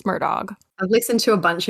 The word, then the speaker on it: Murdaugh: about the murdog family we've had a debate on how to say the name if it's Muro versus murdog and we've decided it's murdog I've listened to a